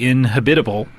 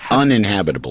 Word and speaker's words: uninhabitable: if we destroy it, would then be inhabitable. Am I pronouncing that correctly? Yes. Uninhabitable. Uninhabitable is what I'm trying to say.